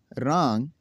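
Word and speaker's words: wrong: अगर किसी लफ्ज़ में W हो और उसके बाद R हो तो W हमेशा साइलेंट होगा। तो नाज़रीन चलो देखते हैं कैसे साइलेंट होगा ये। राइट लिखना, रॉन्ग गलत, रेप लिपेटना, रेत हार।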